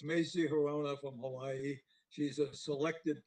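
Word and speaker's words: Hirono: I can't pronounce her last name. Hirano? It's Macy Hirona from Hawaii.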